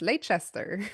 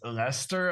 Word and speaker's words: Leicester: is the train towards Lchester and she's like what? So that was my introduction to I mean I didn't learn how to pronounce Lester until they won the league.